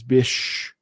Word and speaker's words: BCH: rumors that Bitcoin cash also known as bch which phonetically is bish reserves on its platform